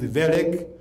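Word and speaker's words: Wellek: It is again a German name. You don't read it. It is ver.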